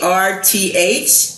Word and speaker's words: Woerth: So Day Iseminger is here with us, and she is from Woerth at Hollow, and our veterans are definitely worth it. Yes, they are. Even though it's spelled a little differently, it's Woerth, it Hollow, HOLLOW.